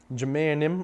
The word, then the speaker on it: minjimenim: Minjimenim or Minjimenim, depending on where you're from. Here in Wisconsin, we kind of drop that first syllable. We kind of just have a subtle M sound.